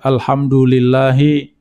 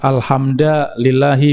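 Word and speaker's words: الحمد لله: merubah harokat misalnya ya Membaca Alhamdulillahi dibaca alhamda lillahi Misalnya ini merubah rasa tidak boleh ini kesalahan besar ya Adapun kesalahan ringan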